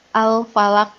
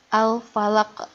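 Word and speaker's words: الفلق: Begini ya, kalau tidak memantul, Al-Falaq ini dibacanya Al-Falaq. Nah, itu tidak memantul. Itu salah. Yang betul adalah Al-Falaq. Nah, beda kan? Ada di akhirnya ada ke-nya begitu.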